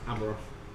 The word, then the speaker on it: Abaroth: Abaroth. That you, is that what it's called? What's it called? Abaroth. Can you spell it for me?